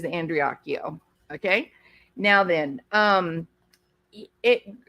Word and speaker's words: Andreacchio: the screen and yes his name is pronounced andreakio I don't know why after all these years people can't like get it to work get their mouth to work properly but it is andreakyo okay now then um